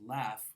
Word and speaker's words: laugh: A great example is this pair, where a learner of English would be very confused to find out that one word is pronounced laugh and that the other word is pronounced slaughter.